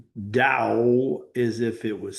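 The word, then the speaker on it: Tao: So now that Lasu is back with you today, the founder and establisher of the teachings of the Dao, which pronounced Dao as if it was spelled Dao, but it's actually spelled T AO.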